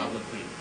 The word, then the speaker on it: obloquy: That last syllable is pronounced K-W-E with a long E. Obligatory. Sorry about Is it? obloquy.